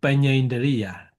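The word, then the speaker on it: paññā indriya: So panya indriya. Panya is panya and indriya. This is not difficult.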